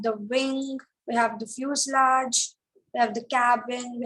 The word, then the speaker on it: fuselage: part is fuse large we pronounce it as fuselage okay okay pronounce so what is fuselage the body of